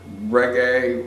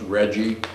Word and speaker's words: reggae: in community so we brought together reggae which at the time radio stations pronounced Reggie uh and this was